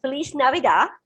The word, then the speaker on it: Feliz Navidad: Keith, it's pronounced Feliz Navidad.